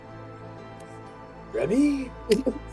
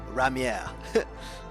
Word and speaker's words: Ramier: Remy no Ramier.